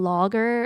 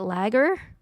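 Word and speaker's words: lager: I once went to a logger festival because Okay, captions is saying logger like wood log. I don't know how to say it. Lagger. L A L L A G- E R like the uh beer.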